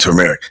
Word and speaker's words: turmeric: Okay, it ain't turmeric. It's turmeric.